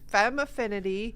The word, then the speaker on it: Femaffinity: So it actually, there's some people who've had a hard time pronouncing it. It's just Femaffinity.